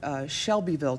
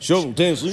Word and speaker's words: Shelbyville: We made it in this wonderful small town called, well, we know it as Shelbyville, Tennessee, but actually the locals in Shelbyville pronounce it like a shovel. It's like... Shovel, Tennessee.